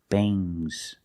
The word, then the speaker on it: bangs: Remember with ngs, it makes a soft g. Bangs. Things. Fangs. Soft g.